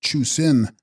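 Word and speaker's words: chu srin: The corrupted Sanskrit form and text name of another Indian cemetery goddess and chrin pronounced chusin water lion or leviathan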